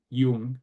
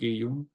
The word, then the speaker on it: Jung: CG Yung as he but here he was he was Swiss German. So I think he would say his name is in German they would say Ti Yung or Kusty.